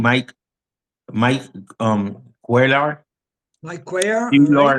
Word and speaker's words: Cuellar: All Cuellar, right. yeah. How you pronounce Got it?